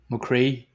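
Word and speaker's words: mo chroí: Well, because I'm unsure as to how to pronounce that. Give it a go. I'm going to say Mocree. Mocree.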